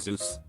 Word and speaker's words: Zeus: finished the presentation a kid asked you it's pronounced zeus right once in middle school i was